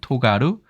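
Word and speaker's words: 尖る: 이렇게 되어 있습니다 그리고 훈독으로는 토가루 스르도이 사기 있는데 토가루는 뾰족해지다 자동사예요 그 다음에 스르더에는 날카롭다 그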